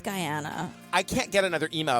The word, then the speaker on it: Guyana: Jones in Guana guy how are we saying it I think it's Guyana I can't get another